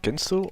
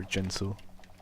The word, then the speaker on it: Ginso: This is I'm a a Ginso Ginso tree. tree Yeah, this is a Ginso. Yeah. There's some weird people that say Jinso. Yeah, I don't know about that. It's spelled with a G, so.